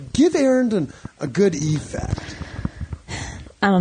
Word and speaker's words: Arend: Swift mentions yeah um yes my name is Aaron a-r-e-n-d with a d on the end is spelled so you can find me on